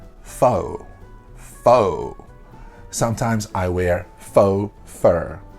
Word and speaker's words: faux: like imitation stuff will be faux not folks not folks this was another one in another video that I heard another pronunciation video where this person taught the students folks folks it's not folks never say the X in this word it is foe faux hawk fake foe